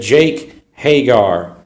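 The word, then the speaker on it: Hager: I said Jake Hagar.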